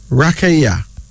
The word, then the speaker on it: Rakaya: Rakaya. Rakaya. R-A-K-A-Y-A.